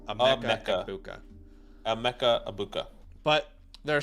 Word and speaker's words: Emeka Egbuka: Emeka Egbuka, not Amika. It's Emeka Egbuka.